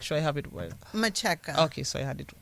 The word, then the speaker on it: Macheka: And the last name, just give me the correct pronunciation. Let me make sure I have it well. Macheka.